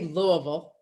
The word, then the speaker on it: Louisville: I say Louisville. Oh, you say it the Yankee way.